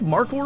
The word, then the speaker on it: markhor: And I think markhor, I don't know if I'm saying it right, it's like mark like the name mark, m a r k, h o r.